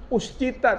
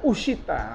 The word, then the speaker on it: uscita: Ini kita bacanya bukan uscita, tapi uscita.